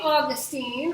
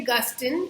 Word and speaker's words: Augustine: is a guy named St Augustine or St Augustine. Either way to pronounce that is correct.